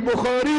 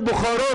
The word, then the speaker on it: بخاری: نیستن حدیث که هیچ صحیح بخاری رو تلفظ نمیتونن بکنن بخارا میگن و یا فکر می‌کنن